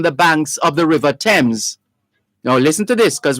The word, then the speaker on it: Thames: banks of the river thames and that's t-h-a-m-e-s the h is silent the river thames over